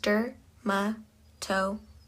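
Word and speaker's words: dermatochalasis: The third term is dermatalis pronounced durmtoalis.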